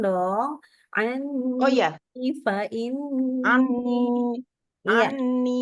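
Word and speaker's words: عَنِّي: Anni. Iya. Bukan en-nya ya. saja. En-nya memang 3 harokat, tapi ni-nya juga 2 harokat.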